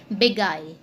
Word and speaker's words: beguile: All right, next word is बिगाइल। इसको हम बिगिल भी कहते हैं, बट the correct pronunciation is बिगाइल, ठीक है, बिगाइल।